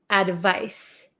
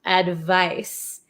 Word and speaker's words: advice: this is advice advice advice so this makes like an S Sound Advice advice so you guys